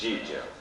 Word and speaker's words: Gigio: Gigio, it's Gigio. Uh, I'm afraid a lot of people in Britain call him Topo Gigio, uh, due to lots of people who were doing the promotions and mispronouncing the name, but it's, uh, you know, Mickey Mouse is Topo Mickey.